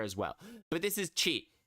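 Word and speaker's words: ち: But this is cheat. It's pronounced cheat like cheese. Cheat as in cheese.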